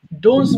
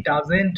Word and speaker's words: doesn't: ডোন্টস বলে ফেলেছিলে, তাই না? এটা হবে কি? ডাজেন্ট হবে। ডাজেন্ট, ডাজেন্ট।